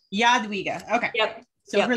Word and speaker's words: Jadwiga: So I pronounce it Jadwiga. Jadwiga, okay.